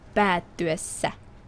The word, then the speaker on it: päättyessä: If it's just one a, then it's a. And if there's two as, then it's a. So you would say, you would pronounce the Finnish you just put there, ajan päättyessä. Päättyessä. Long, short.